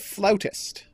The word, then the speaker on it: flautist: creepy cookie flute flout because they pronounce it flautist not flutist is what I'm that's